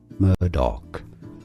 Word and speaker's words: Murdaugh: Well, and so it is spelled Murdaugh, but Amy told me, hey, idiot, it's Murdoch during the break.